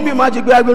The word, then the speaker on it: Majeyogbe: Can you please learn to pronounce? You if you yes. call me Majeyogbe, I will not I'm answer.